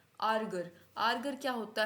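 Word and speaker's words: Ärger: ई आर एर गर इसको हम आर्गर नहीं बोलेंगे जैसे ही आपके पास ए मिट उम्लाउ आ जाए वो आ नहीं होगा वो ए बन जाएगा क्या बोलेंगे आर्गर आर्गर आर्गर क्या होता है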